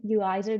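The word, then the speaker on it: Uizard: Yeah, there's also Uizer. Is that how you pronounce it? Yeah, that one, Uizer.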